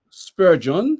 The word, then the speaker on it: Spurgeon: texte de tous ces sermons il s'appelle Charles Spurgeon ça s'écrit Spurgeon s P u R g e